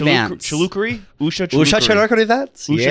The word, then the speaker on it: Chilukuri: Usha Chimichurri Vance. Chilukuri?